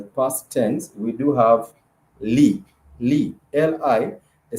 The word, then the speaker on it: li: So the tense marker for the past tense in Swahili, it has to be li, L-I, the syllable li, which is the tense marker that comes before, is a prefix.